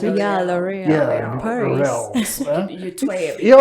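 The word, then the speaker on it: L'Oréal: Is that how you pronounce it? Yeah, L'Oreal.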